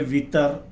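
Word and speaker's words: وتر: और उसके अंदर सबसे पहले वितर, जिसकी प्रोनाउंसिएशन वतर भी है लेकिन आमतौर पर वितर लिया जा रहा है अभी।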